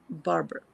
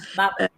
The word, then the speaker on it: Babur: So this is when Barber crossed the Mughal king, Barber. Is that the right Babur. pronunciation? Yes. Yeah, Babur.